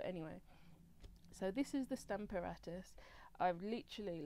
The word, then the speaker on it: Stamparatus: be showing you is the Stamper otters or Stamper artists it depends where you are in the country as to how you pronounce it but I say stamp aratus so what I'm gonna